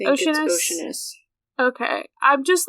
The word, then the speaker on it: Oceanus: I know sometimes things are deceiving, and I'm like, is it actually pronounced like a sea, like ocean, or is it like Oceanus or something like that?